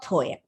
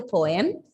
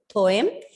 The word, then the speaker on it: poem: This word has got 2 syllables.